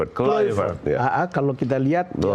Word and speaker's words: Kluivert: Kluivert apa Kluivert bacanya? Kluivert.